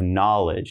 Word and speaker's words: knowledge: Again, no K sound. We have knowledge.